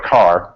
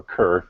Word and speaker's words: Kerr: solution came along from Roy Carr or Kerr depending on how you how you want to pronounce it and he came up